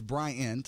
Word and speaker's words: Bryant: And it is Bryant. I want to say Brian a number of times.